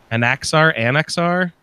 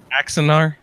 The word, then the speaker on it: Axanar: He's there generally for, I'm not sure I'm going to pronounce it correctly, Anaxar? You know what I'm saying? Axanar. Axanar.